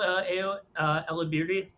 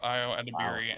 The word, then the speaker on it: Ayo Edebiri: we'll go Ao Elabirdi, whose last name I mispronounced, and Stanley Tucci. Final. Yeah, final. Great collaboration. It is Ayo Edebiri and Stanley Tucci. Well done. Yay! I thought there was an L in that name.